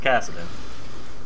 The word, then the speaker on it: Kassadin: Kassadin and I felt like I said his name wrong but then I remembered no his name's Kassadin I have no idea what I thought it